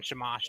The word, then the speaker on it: Shamash: ability for gilgamesh wins of shamash interesting so shamash is uh someone who actually helps gilgamesh in one of his main battles with uh humbaba a demon he calls upon shimash to find the demon it's pronounced okay so he's calling down the winds